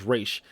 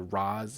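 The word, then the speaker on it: Ra's: out of me that they pronounced their rods instead of race because i grew up with pronouncing their race but it's kind of like street fighter review and ryu you can they both you know is correct but just pronounced differently but you know that's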